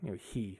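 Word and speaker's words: 日: He would be one way of pronouncing it. Would be like, there's different ways of pronouncing it, but it represents the sun.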